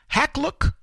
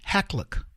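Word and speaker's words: Hakluyt: Meet London-based Hacklook & Company. Let me spell it for you so you can look it up. H-A-K-L-U-Y-T, Hacklook.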